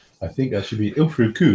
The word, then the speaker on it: Ilfracombe: Oh, I think that should be Ilfracombe. Ilfracombe. Is that how you pronounce it?